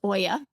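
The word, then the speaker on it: olla: l a it's called it's actually pronounced Oya so it's a Spanish name oh is it okay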